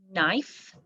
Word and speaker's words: knife: running then we have the spelled with k in like kneel knee knock knot knife knit and knack and oh knits down